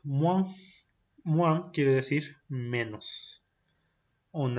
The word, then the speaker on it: moins: Tenemos la combinación OIN que se pronuncia como one, como decir Juan pero sin la J, one. Y el ejemplo de esto es moins.